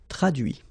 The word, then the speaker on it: traduit: Okay, so the same rule, because, well, basically it's the same group, and then same rule, final T not pronounced, so introduit, produit, réduit, séduit, traduit.